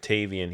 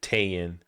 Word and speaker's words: Tavien: He could never pronounce the V. Mm-hmm. Like when he said Tavian, he said Tayin.